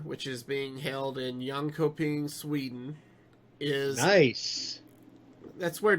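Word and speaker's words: Jönköping: next Masters Tour which is being held in young coping Sweden is nice that's where Dreamhack originated I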